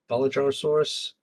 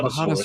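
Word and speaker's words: Bajadasaurus: No, Bulgarasaurus. What? It's like a Margosaurus with the spikes facing Oh, forwards. Bahatosaurus. Oh, There we go. yeah, Bahatosaurus.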